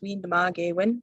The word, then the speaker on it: Windamagewin: community engagement to develop windamagewin is pronounced we nema when its meaning is he